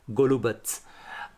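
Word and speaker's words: Golubac: स हमारे हिंदी में विभत्स, उत्सव या फिर वत्स जैसे जो शब्द हैं उसमें आधा त और स यूज़ होता है, तो TSA वाली जो साउंड है वो प्रोनाउंस की जाती है इनके लेटर सी में। फॉर एग्जाम्पल, अब मैं आपको कुछ यहाँ के शहरों के नाम बताता हूँ। एक शहर है उजित्से, दूसरा है गोलुबत्स, तीसरा है पुजारेवत्स।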